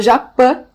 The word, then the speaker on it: Japi: Então é Japã, na verdade, pronúncia. A gente acaba falando Japi em alguns momentos para as pessoas entenderem o